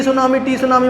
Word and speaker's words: tsunami: अ सुनामी इज़ a very large, इसको टी सुनामी मत पढ़ना कोई, इसका नाम सुनामी है, टी साइलेंट है इसमें, ठीक है ना।